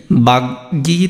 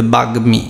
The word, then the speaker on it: বাগ্মী: সাথে যদি ম থাকে, তাহলে সেই উচ্চারণটা কি হবে, মটা উচ্চারণ হবে। অর্থাৎ এটা কি বাগ্যী তো আর উচ্চারণ হবে না, কি হবে বাগ্মী।